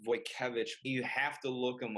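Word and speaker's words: Wojtkiewicz: I studied under a painter called Dennis it's pronounced boy cabbage you have to look him up he paints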